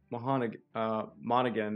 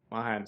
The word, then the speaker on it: Mahan: The USS Monaghan. Monahan. Mahan, sorry. Yeah, I was about to mispronounce that one pretty bad there.